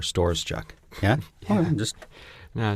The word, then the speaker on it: Storoschuk: I think the Ukrainian pronunciation is like Storoschuk or something. Storoschuk. Yeah, it's like... Okay. And how do you say it then? How do you say your last? Storoschuk. Storoschuk? Yeah. Like a store, Storoschuk.